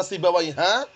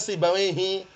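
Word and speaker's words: سيبويه: ada orang namanya sibawaihi sibawaihi ini enggak pernah dibaca sibawaiha enggak pernah dibaca sibawaihu pasti dibacanya sibawaihi kokoh enggak harakat kasrah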